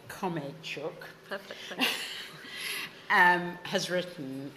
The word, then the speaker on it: Khromeychuk: So the occasion is to talk about the book that Khromeychuk, I have to pronounce it right, Khromeychuk, perfect, thank you.